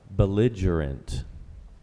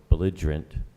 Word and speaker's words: belligerent: Belligerent. Also belligerent or belligerent. Preferred pronunciation is belligerent.